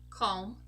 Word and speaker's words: calm: another group where a group of words where we also do not pronounce the letter L are these words over here balm as in lip balm bomb calm Palm song yes guys